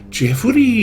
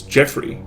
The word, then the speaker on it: Jeffrey: My name is not Jeffuri, it's Jeffrey. It's 2 syllables, not 4.